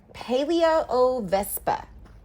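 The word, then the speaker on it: Palaeovespa: wasp oh gracious these big words uh uh paleo o Vespa I'll just spell that in case you went to Google this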